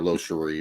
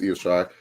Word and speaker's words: Io Shirai: Even though he mispronounced Io Shirai's name like 5 million times and called her Lo Cherie, but it's okay. Lo Cherie, but it's Io Shirai.